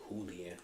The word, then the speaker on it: Julian: Julian Randall uh he he would like that Jay to be pronounced like julan Randall and this is